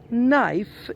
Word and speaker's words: knife: you pronounce KNIFE well knife is the correct pronunciation because all the words which start with the letter K are followed by an N the K is not pronounced okay is a silent letter only though at the